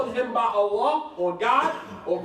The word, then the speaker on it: Allah: Because if you put a shadda on the Lam, that means that you pronounce it twice. Allah.